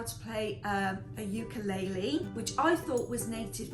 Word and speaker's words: ukulele: they taught us how to play um a ukulele which I thought was native to Hawaii but apparently the Portuguese bought it over to Hawaii and the proper pronunciation of a ukulele is actually uku Lele I thought was interesting because I always pronounced